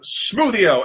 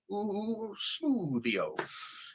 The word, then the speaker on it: smwddio: Thank you for Smoothio, SMWDDIO. That's how it's spelled. Board Smoothio, because in Welsh, W is a vowel. That makes sense. It's a W, Smoothio.